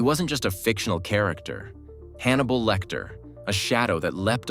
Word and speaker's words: Hannibal: For example, his name Hannibal rhymes with cannibal, evoking his disturbing desire to consume his victims.